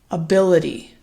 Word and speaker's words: ability: say this for you ability ability okay where is the primary stress placed in this four syllable word it should be on that second syllable ability ability so